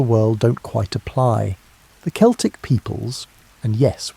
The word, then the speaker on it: Celtic: The Celtic peoples, and yes, we pronounce it Celtic when talking about these historical folks, not the basketball team pronunciation, occupied a vast swathe